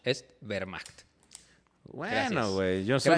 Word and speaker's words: Wehrmacht: La W se pronuncia como B, así que la Wehrmacht no es Wehrmacht, es Wehrmacht.